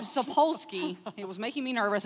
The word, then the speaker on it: Sapolsky: also was described by Robert zapolsky I was very nervous I was going to get that name wrong so Robert sapolsky he was making me